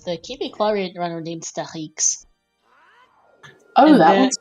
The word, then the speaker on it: Stachix: Star X is how to spell it, and X is how you pronounce the X in French. So, and also speaking of things, GG's to Mashi's finishing 5th, 2:32:48.